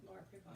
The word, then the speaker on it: Laura Prepon: Well, I just remember when the movie came out with Laura Prepon. Do I say her name right? Laura Prepon.